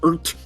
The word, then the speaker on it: RT: Excuse me, that's pronounced ert.